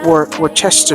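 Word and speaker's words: Worcestershire: And then I'm actually going to be adding um my wor I can never say it correctly. Uh worester sauce. I believe that's how you say it.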